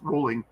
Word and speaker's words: Rowling: because he's he enrolling rolling yes it's still pronounced rolling he and Rowling have contracts that don't allow